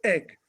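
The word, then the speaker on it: Eigg: not too far away called egg although it's spelled e-i-g-g and that was owned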